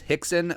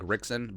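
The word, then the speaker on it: Rickson: Hicks and Gracie now his his name's Hixson but it's spelled r-i-c-k-s-o-n so it looks like Rixon but you know with uh you know Brazilian RSN like H's uh even if you're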